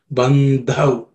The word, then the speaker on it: बंधव: In the last word, bandhav, the dha, which is the last letter, is an aspirated consonant because it's the fourth letter in the tha varga. So, dha is the way it should be pronounced. So, it's bandhav. Okay.